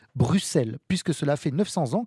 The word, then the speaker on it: Bruxelles: Donc là, le X de Bruxelles et ben on dit Bruxelles et beaucoup de Français diront Bruxelles effectivement. Donc les Belges eux l'écrivent de deux manières différentes, le S ou X. Mais ils prononceront toujours Bruxelles.